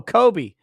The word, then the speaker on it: Kyuxby: Kyuxby says, username pronounced Kobe. Oh, Kobe.